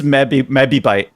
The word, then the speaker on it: mebibyte: It's mebibyte. Oh, your pronunciation was great.